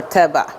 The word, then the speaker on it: eba: In West Africa, we use it as a swallow, which is called eba or teba. Depending on which tribal person that you find, they have their own pronunciation.